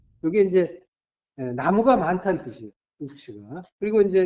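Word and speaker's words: עוּץ: 우스는 이제 우츠라고 하는데 이게 이제 나무가 많다는 뜻이에요. 우츠가.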